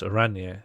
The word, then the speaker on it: Oranje: Oranje is pronounced Oranje, yeah.